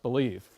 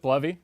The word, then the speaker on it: Bleve: bloody what is this I thought it was pronounced believe and I've ever lie would say 50/50 people I run into pronounce it bloody or believe I pronounce it bloody but anything you want to pronounce it is